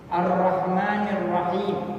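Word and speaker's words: الرحمن الرحيم: Ar-Rahman dan Ar-Rahim bacanya pakai tasmim, ya. Jadi tasydidnya nggak dijelasin. Itu menurut bacaan yang benar. Tapi kalau kita mau tegesin tasydidnya juga nggak apa-apa. Ar-Rahmanir Rahim boleh, tapi lebih baiknya di tasmim.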